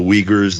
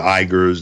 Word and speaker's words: Uyghurs: There's supposedly an oppression of minorities in China, particularly the, depending on the pronunciation, the Uyghurs, the Igors, the Uyghurs, the folks in the